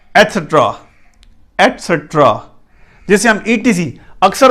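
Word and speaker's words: etcetera: एटसेट्रा, एटसेट्रा, ET, CET, सेट, RA, रा, एटसेट्रा। एक्सेट्रा नहीं है, एटसेट्रा, ये सही प्रोनाउंसिएशन है, एटसेट्रा।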